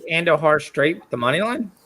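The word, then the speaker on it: Andújar: Yeah, Andujar. What did I say? Andujar. Andujar. The J is silent.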